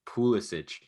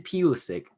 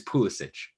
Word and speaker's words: Pulisic: wanted to say because you said his name properly pulisic i i hate the fact that this dude is so american that he can't even pronounce his own name this guy goes out and says my name is christian pulisic bro your name is pulisic your name is foolish respect croatia respect where you're from and start saying pulisic